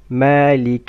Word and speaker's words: مالك: Make sure that you don't stretch the kasra of kaf. مالك، مالك يوم الدين.